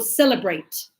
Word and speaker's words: celebrate: Lo mismo cuando digo celebrate. Aunque termina en E, ¿sí? El último sonido es T. Celebrate. Entonces, cuando pronuncio en pasado, voy a decir celebrated.